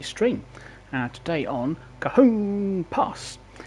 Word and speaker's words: Cajon Pass: Today on Cajon Pass, and that's how the chap on the training thing pronounced it, Cajon Pass.